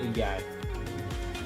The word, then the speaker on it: Y: Just like the Y in English, we call it E. So the Y pronounced just like E. Follow me. E. Remember, E is up. Oh, sorry. E is up and is down.